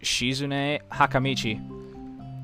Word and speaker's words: Shizune Hakamichi: is right there she I believe it's pronounced shizune hakamichi oh yeah and she